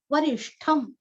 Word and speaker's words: वरिष्ठं: वरिष्ठम, वरिष्ठम, वरीरस्व, जैसे उत्तिष्ठ वैसे यहाँ पे ष्ठ, अच्छा उच्चारण करना है ष्ठ का, और लास्ट में आधा म, वरिष्ठम।